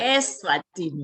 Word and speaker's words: Eswatini: Eswatini.